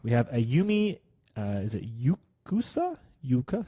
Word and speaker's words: Uekusa: We have Ayumi, is it Yukusa? Yuka? How would you pronounce that? Ayumi Uekusa.